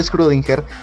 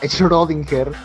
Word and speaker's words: Schrödinger: paradoja de la todo screw dinger que si se pronuncia así yo antes lo pronunciaba schrödinger y discúlpenme por favor